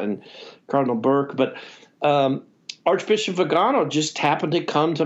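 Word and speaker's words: Viganò: What did you think of, how do you pronounce it, Vigano? Vigano.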